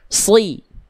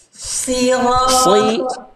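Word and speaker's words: ٱلصِّرَاطَ: Si. Si si. Dorong lidahnya lagi ke dalam.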